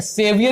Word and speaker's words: severe: हमने बताया था किसी चीज को जब बहुत ज्यादा कट वो करना होता है तो सेवरे या सेवियर इसका प्रोनाउंसिएशन होता है, सेवियर, ठीक है।